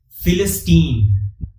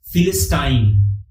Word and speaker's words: Philistine: different in British English in American English it is pronounced as Philistine this word rhymes with the word teen but in British English it is pronounced as philistin sign it rhymes with the